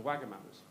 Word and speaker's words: Wagamama: Everyone was like, oh, crap, I've been pronouncing it Wagamama's, is it not?